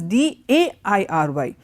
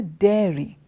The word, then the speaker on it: dairy: If this is D-I-A-R-Y, the other one is D-A-I-R-Y. This is it's not a diary, it is a dairy. So, one is diary, the other is dairy.